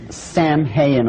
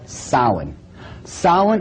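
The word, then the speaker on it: Samhain: the name it looks as if it's saying Sam hayan or something like that no no no no this is properly pronounced in the ancient Gaelic as Sin sa according to Ault tradition was the lord of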